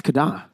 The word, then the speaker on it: KDA: It's Kada. It's Kada. That's how you pronounce KDA.